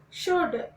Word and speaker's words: should: Should, SHOULD, should. And would, WOULD, would. There is no L sound in these words.